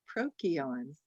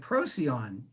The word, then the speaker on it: Procyon: that sound for c it was a k sound and so it would theoretically be pronounced prokion the star but yeah